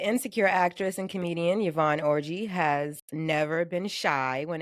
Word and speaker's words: Orji: Yeah, the viral conversation with Yvonne Orji, star of is that how you pronounce her last name? Orji? It's Yvonne Orji.